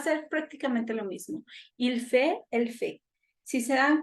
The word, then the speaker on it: fait: Ici, nous avons T, mais ça ne se prononce pas. Ajá. Aunque tenemos una T ahí, esa no se pronuncia. Entonces, va a ser prácticamente lo mismo. Il fait, elle fait.